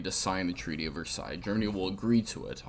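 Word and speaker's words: Versailles: do so yes that is how that is pronounced the treaty yeah it's not verses okay it's Versa um it does a couple of key things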